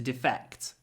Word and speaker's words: defect: another meaning of defect but the stress is different defect the noun defect stress on the first syllable